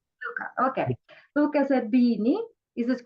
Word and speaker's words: Zerbini: How should I pronounce correctly? It's Luca or Luca? Luca. Luca, okay. Luca Zerbini. Is it correct? Zerbini, yeah.